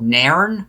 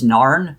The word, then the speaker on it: Nairn: It was a small place called Nairn, but I've also heard it pronounced as Narn, okay. Nairn, at least to my knowledge.